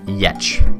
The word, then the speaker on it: Giertz: I think that's if you're gonna watch a video first, if you're just to check her out, I guess Simone, Simone Yetch, but it's spelled Giertz.